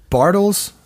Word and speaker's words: Bartels: Is it Bartels? Is that am I pronouncing that correctly?